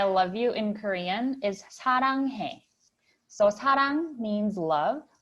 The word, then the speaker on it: 사랑해: And I think 랑, the middle one, is a very hard pronunciation for a lot of foreign people. It's kind of between L and R. We don't really have L's or R's, but it's somewhere in between.